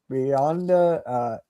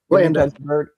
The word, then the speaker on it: Blanda: Brett Favre, Bionda, George Bionda, I think his name is. I can't pronounce it. Blanda. Yeah. Blanda, sorry. Couldn't even read my own type.